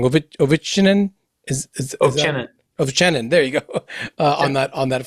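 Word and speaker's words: Ovchinin: I'm sure I'm going to pronounce it wrong. Ovechinin? Ovechinin.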